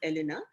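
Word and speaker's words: Hélène: It's spelled as Helene, but I checked the French thing. It's pronounced as Elena, and they go to meet her.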